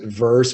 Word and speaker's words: VerSe: here necessarily called it's i believe they they pronounce it verse v-e-r-s-e in india they have about a five